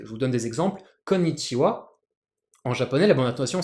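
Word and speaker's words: こんにちは: Konnichiwa, en japonais, la bonne intonation c'est konnichiwa.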